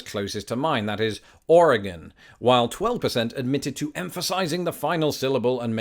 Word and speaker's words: Oregon: Americans getting it wrong so for the record I always pronounce it Oregon oh wait no that's an entirely different video I always pronounce it Oregon Oregon R again I'm just repeating it until you convinced now call me crazy